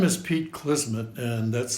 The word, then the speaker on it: Klismet: enjoy the show my name is Pete kisman and that's spelled k l i s Ms and Mary